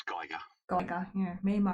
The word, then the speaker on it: Geiger: It's Geiger. Geiger, yeah, me and my pronunciation.